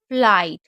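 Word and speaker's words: flight: फ्लाइट, तो यहाँ पर देखिए जीएच साइलेंट है।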